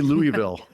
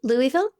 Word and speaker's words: Louisville: How do you say Louisville? Lou- Louisville? Or do you say Louisville? Louisville. No, I say Louisville.